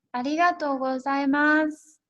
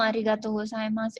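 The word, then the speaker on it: ありがとうございます: salam lainnya yang ibu hamil di sini adalah pengucapan kata terima kasih terima kasih itu bahasa Jepangnya hadiqatul saima Arigatou Gozaimasu yang mengatakan Terima kasih ini kepada orang atau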